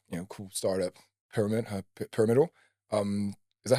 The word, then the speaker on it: Piramidal: Pyramid Pyramidal. Um, is that how you say it actually? Parameal.